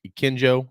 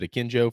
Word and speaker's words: Akinjo: And the third team selected by the AP is JD Note from Arkansas, James, I can never pronounce his last name either. Akinjo, is it Akinjo from Baylor?